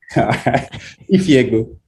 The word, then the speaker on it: Ifiegbu: Ifiegbu. Ifiegbu. Yeah, it's literally pronounced how it's spelled.